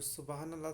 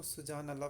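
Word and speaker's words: سبحان اللہ: तो उनको गलती से मैंने गीज़ा को गज़ा और जो सुबहान अल्लाह था उसको सुजान अल्लाह प्रोनाउंस कर दिया था। तो इन दोनों को आप ठीक कर लें, क्योंकि असल में जो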